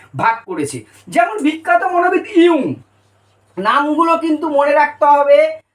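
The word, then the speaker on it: Jung: সেইটাও তোমার কিন্তু খেয়াল রাখতে হবে না হলে কিন্তু ভুলিয়ে যাবে ইউং যদিও আমাদের উচ্চারণটা চলে আসছে ইংরেজি যদি দেখি জাং কিন্তু বাংলা একচুয়াল উচ্চারণটা ইউ এই ইউং এর ভাগটা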